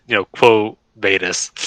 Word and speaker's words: Quo Vadis: Vadis, or by quote, Quo Vadis. Because this is fucking Latin, not fucking French, Austin. I'm not pronouncing it French.